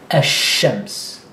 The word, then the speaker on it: الشمس: So al-qamar versus ash-shams. Al-qamar, ash-shams. So here you move straight to the sha.